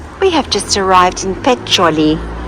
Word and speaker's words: Peccioli: have just arrived in pet choli which Google Earth calls our Google Maps calls pixely so we kept on saying oh we've arrived in Pitch silly obviously the pronunciation is not always the best oh that was it